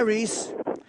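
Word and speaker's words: Rhys: Hi, Reese. Sorry about your deal. Wait. Your name is Reese. Yes, that's correct. Do Reese. you spell it R-H-Y-S?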